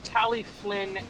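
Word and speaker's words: Talyllyn: Michael, it's pronounced Tally Flynn.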